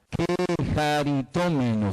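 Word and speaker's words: κεχαριτωμένη: Quejaritómeno se pronuncia.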